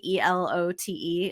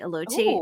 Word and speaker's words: elote: or how do you say that mexican corn e-l-o-t-e elote elote and right now right now he has